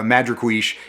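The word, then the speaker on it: Madrecuixe: they have a uh madra quiche mad madrequish i don't think i'm saying that right uh he he pronounced it uh madriquish is is a type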